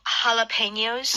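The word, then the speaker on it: jalapeños: You know jalapenos? Yes. A lot of Korean people like jalapenos. Yeah. And that is also spelled with a J. So in Spanish, J is that sound.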